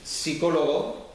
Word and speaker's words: psicólogo: de todas esas palabras que llevan p como psicólogo que no se pronuncia la p Pues el Castellano Ya